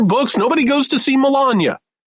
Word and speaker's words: Melania: Like it's not it's not Melania, it's Melania.